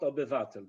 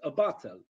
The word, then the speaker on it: obywatel: Not obywatel, but obywatel.